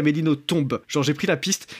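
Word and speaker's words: Nothomb: à la fin et il y a bien un B qui est prononcé. Voilà, donc voilà, j'avais fait des recherches mais je sais qu'il y a des beaucoup de gens qui disent à Améino ton et qui le disent sincèrement parce qu'ils pensent que ça se prononce comme ça et ben apparemment pas.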